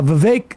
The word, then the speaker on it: Vivek: here is um uh Vivek still rhymes with cake making his uh claim